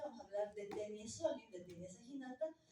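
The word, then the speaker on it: Taenia solium: Pero siempre les digo cómo se escribe, porque como se escribe realmente es Taenia, se lee Tenia. Entonces están Tenia solium, Tenia saginata y Tenia saginata asiática.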